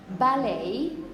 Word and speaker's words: ballet: at the end okay but you don't announce the T you're always going to pronounce the English version is going to be the ballet the ballet yeah a